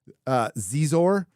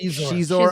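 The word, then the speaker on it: Xizor: from Legends, with Prince Zizor and the Black... Shizor. It's pronounced Shizor.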